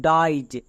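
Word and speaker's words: dies: ক্ষেত্রে simple tips হচ্ছে এর আগে যদি একটিও ভাওয়েল না থাকে তখন আই ই এস এর জন্য উচ্চারণ করবা আইজ যেমন দেখো ডি আছে ডি কনসোনেন্ট তাই এর জন্য উচ্চারণ হচ্ছে ডাইজ নেক্সট এস পি এর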